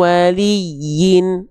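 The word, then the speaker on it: وَلِيٍّ: Maka yanya-nya di sini dibaca min waliyyin. Ah, jangan lupa di atasnya ada tanda tasydid. Nah, kalau tasdid pada huruf ya itu bukan diteka eh bukan ditahan tapi cukup ditekan.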